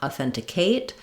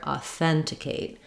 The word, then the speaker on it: authenticate: a dip Fong but just be careful not to stress here we don't want authenticate but rather authenticate so T and Kate are both short um even though Kate doesn't have a reduced vowel authenticate you can also practice this by trying each syllable slowly just keep the rhythm of the word the same still stressing and stretching on the second syllable that sounds like authenticate authenticate authenticate